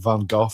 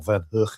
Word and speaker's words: Van Gogh: Yeah, like the likes of Van Gogh or Van Hook I believe he's supposed to be pronounced.